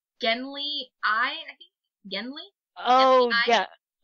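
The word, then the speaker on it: Genly: name Genley with an L and the other pronounces it Genry with an R. Yeah. So, we'll just call him Genley.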